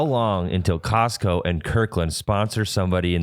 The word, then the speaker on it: Costco: i was thinking about how come nobody pronounces the tea in costco yeah because it's not costco it's costco it's just like it's like cuzco from emperor's new groove yeah that is a